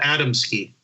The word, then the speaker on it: Adamski: people talking and plus you get to find out how he pronounced his name also there there's recordings of adamsky I have and he calls himself adamski I I I've heard